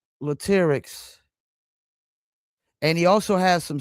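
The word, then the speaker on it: Latyrx: Is that Latics? You did pronounce it right, which is not Everybody don't do that, but yeah, you did.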